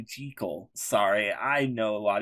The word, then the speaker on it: Jekyll: did you know that jekyll isn't even the correct way to pronounce it it's actually jiggle sorry i know a